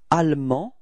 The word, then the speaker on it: allemand: And then en, so A-N-D, finally is not pronounced, so it's en, and feminine form is ande. Okay, so you can see that the final E in the feminine form only gives you the possibility to pronounce the D, okay?